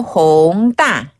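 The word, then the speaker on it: 弘大: 신촌이 신촌 어 자 정리해 보면 홍대는 홍 홍따 연남동은 연남동은 난똥 한 번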